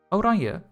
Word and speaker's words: Oranje: Dutchy, how do you know how to pronounce that? Because I'm Dutch. Oranje, why are you so angry?